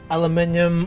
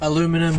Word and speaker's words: aluminium: So the thing with aluminium, or aluminum as North Americans say, is you do not use abrasive discs to try grind or cut aluminium.